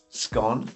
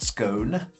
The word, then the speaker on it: scone: I was always taught that a scone pronounced scone, not scone a scone should be broken.